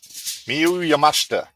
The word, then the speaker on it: Miyu Yamashita: So you're going to have to pronounce the last name. Mm-hmm. It's Miyu. Miyu Yamashita.